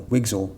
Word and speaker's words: WGSL: This is the new web GPU shading language, WGSL or Wigel for short.